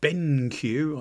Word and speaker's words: BenQ: So it's a Benq, I think is the way you pronounce it, and this is basically to help